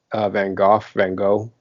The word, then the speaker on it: Van Gogh: It's the Willem Dafoe film with which is about Vincent Van Gogh.